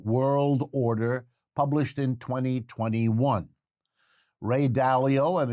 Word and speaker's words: Dalio: called the changing world order published in 2021 ray dalio and it's spelled d-a-l-i-o is an important figure and since